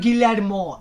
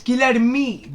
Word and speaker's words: Guilherme: And it's not Guilhermo either. It's Guilherme. G-U-I-L-H-E-R-M-E.